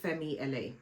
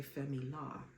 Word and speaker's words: Fenty LA: And they are these heels by Fenty LA. Correct me if I'm pronouncing them wrong. I don't think I am, because the LA stands for Los Angeles. I've heard some people say Femila, and I'm like, oh, okay.